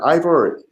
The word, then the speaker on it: Ivor: Is it Ivor? Is that how you say his name? Yeah. So he and I have gotten into it on Twitter, and but I actually and Dr.